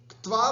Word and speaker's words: क्त्वा: क्त्वा, क्त्वा, है ना, कत्वा भी नहीं बोलना है और तवा भी नहीं बोलना, त्वा भी नहीं बोलना है। क्त्वा, है ना, हल्का सा क का उच्चारण और फिर त और फिर क्त्वा प्रत्यय, क्त्वा प्रत्यय, ऐसा उच्चारण अपने को करना है ना।